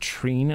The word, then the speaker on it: Trine: search of legendary nine it's pronounced Trina and I might be wrong but treating was good